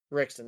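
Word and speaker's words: Ritchson: So Alan Richtor came out afterwards and put a Allan Richson. Rickson, that's what it is. I said the name wrong, but he came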